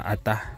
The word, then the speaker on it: Ata: tribong ata or a Ano bang tamang pronounce Tay a or ata ah ata lang ata ata Ayan tribong ata